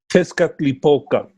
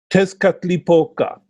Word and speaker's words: Tezcatlipoca: so will you please say it for us Tezcatlipoca that's why I can't say it that's it again Tezcatlipoca just cut lip oka over the smoking mirror